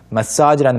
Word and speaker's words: massage: 조금 확실히 발음해보면 message versus Massage. massage. message는 매에 강세가 있어서 나머지가 쭉 떨어지게 되고요. massage는 Massage, it's on the final A. 네, massage 두 번째에 있습니다. 그래서 massage 이렇게 발음을 해주셔야 됩니다.